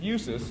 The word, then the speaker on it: USUHS: replied use who trying to explain I said usus and I spelled the name USU HS usuhs